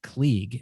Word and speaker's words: Kleege: that they go on youtube and watch georgina klieg and that is the proper pronunciation k-l-e-e-g-e um and there's some great stuff